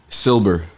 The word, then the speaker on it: Silber: Silber, Silber, like silver with a B, yeah. Did he tell y'all to say it like that too? It was like no, it was Silber with a B, guys.